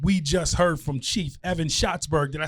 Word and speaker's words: Evan Schatzberg: We just heard from Chief Evan Schatzberg.